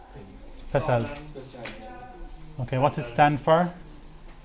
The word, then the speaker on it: PESEL: How's it pronounced? Pesel.